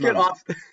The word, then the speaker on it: mom: It's like, it's spelled M-O-M, but it's Okay, pronounced mum.